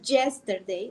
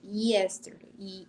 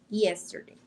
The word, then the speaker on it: yesterday: En inglés esa Y suena muy sutil. No decimos yesterday, decimos yesterday, como un IE, yesterday.